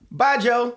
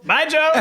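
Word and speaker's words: baijiu: thousand, a bottle whatever B AI J IU but pronounce it like buy goodbye Joe bye Joe bye Joe there you go is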